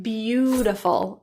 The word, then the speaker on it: beautiful: fully rounded ooh ooh the a is pronounced as Ooh in one instance and other uses of the base word beauty so words like beautiful and beautician let's practice she's a